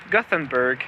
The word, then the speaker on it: Gothenburg: If you don't know what city I'm talking about, it's because in English it is pronounced Gothenburg, but in Swedish it is pronounced Göteborg. I may not have the best Swedish accent.